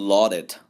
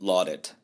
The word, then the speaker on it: lauded: 여기서는 lauded, C 거꾸로 보는 발음 아시죠? O도 아니고 A도 아닌 중간음, lauded.